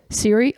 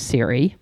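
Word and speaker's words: Serey: The Apple Siri is not spelled like my sister's Siri, which is S-E-R-E-Y, but is pronounced the same. Now my sister's name is uttered by everyone on earth seeking an answer. I'm not sure if my Siri is still pleased with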